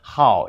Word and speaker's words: 好: So in this case, 好 is like you love, you like. So it's 4th tone.